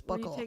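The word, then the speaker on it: buccal: oh my God is is it Buckle or is it bu I feel like it should be pronounced bu but from what I understand it's Buckle yeah where you take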